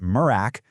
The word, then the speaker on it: MRAC: And you know, first things first, everyone calls it MRAAC and it's pronounced Murrack.